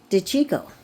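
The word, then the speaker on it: De Cicco: I looked up how to pronounce this, but you pronounce it DeChico.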